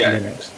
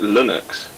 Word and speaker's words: Linux: thing it's named after linux is named after linus which is fine but he pronounces it linux wow they pronounced it linux what was like a u in it yeah slightly it's it's somewhere between an eye and a year i'd say latin bonnets wait